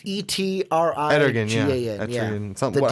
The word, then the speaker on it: Etrigan: Fucking Etrigan. It's Etrigan. Etrigan, yeah. Something. The how demon, the hell it's pronounced.